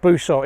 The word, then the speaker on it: Busot: or the town of busot well at least Busa is the way that most of us English pronounce it I think it should be basot basot or busot sits just below cabets